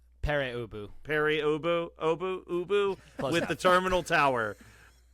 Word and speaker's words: Pere Ubu: The Addicts, Smart Alex, and how do you pronounce this one on the grab and go? Pure Ubu? Pere Ubu.